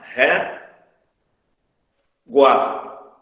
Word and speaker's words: régua: sílabas aqui, vai ficar assim, ó. Ré, guá. Ou seja, na última sílaba ficou o G, o U e o A. O U e o A são duas vogais que estão dentro da mesma sílaba. Que é o que nós chamamos de ditongo. Certo? Por isso que a palavra régua é acentuada.